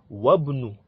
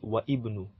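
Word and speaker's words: وابن: So let's say the first one is Ibnu Muhammadin fil Iraqi wabnu. So it will not be wa ibnu.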